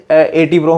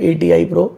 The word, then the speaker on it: ATI Pro: मैं कई जगह जाता हूँ तो कई लोग कहते हैं जैसे 80 Pro हम यूज़ कर रहे हैं, मैं तो 80 Pro कौन सा ब्रांड आ गया, देन बोलते हैं ATI Pro।